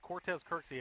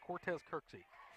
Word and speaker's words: Cortez Kirksey: right it is it's Cortez Kirksey I got the uh pronunciation for that for the game it doesn't look like it but it is Cortez Kirksey all right so second